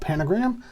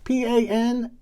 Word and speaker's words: Panagram: I think I'm going to call it Panagram. P-A-N-A-G-R-A-M. Panagram. Maybe they don't pronounce that second A, but I am. I'm just going to go with it.